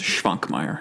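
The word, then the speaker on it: Švankmajer: Well, and check the S that has a little caret on top. That's a sh sound, so it's Schwankmajer.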